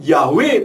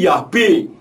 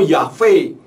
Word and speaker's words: Yahweh: Nah, dari keterangan transliterasi yang saya tadi sampaikan, kalau di dalam bahasa Indonesia orang mengatakan YHVH, seharusnya membacanya bukan Yahweh tetapi Yahbe atau Yahve.